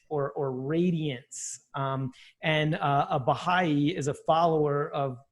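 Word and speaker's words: Bahá'í: the things that that brought me to the Baha'i faith and since I am also new to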